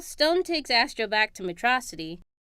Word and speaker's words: Metrocity: Well, Stone takes Astro back to Metrocity. Pronounced Metro City!